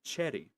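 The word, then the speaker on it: Xherrie: way over here to Cheddy, which is X H E R R I E. I know that's a weird it's a weird way to pronounce it, but you're going to have to get used to it.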